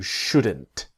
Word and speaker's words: should: Should you should you buy it now or should I etc. The important thing is the L is silent.